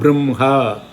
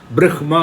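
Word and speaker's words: ब्रह्म: பிரம்ஹ, பிரஹ்மா கிடையாது, பிரம்ஹ.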